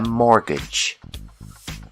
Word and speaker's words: mortgage: When you need a loan to buy a house, we call this loan a mortgage. The T is silent.